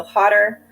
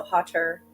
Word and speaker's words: hotter: might save hotter and that sound sounds more like a D okay so hotter wetter butter right when